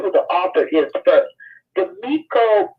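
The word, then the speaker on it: Demico: Demiko Booth.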